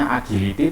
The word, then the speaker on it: agility: Tulisannya agility tapi membacanya agility.